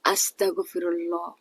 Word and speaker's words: আস্তাগফিরুল্লাহ: ইস্তেগফারের সঠিক উচ্চারণ হচ্ছে আস্তাগফিরুল্লাহ।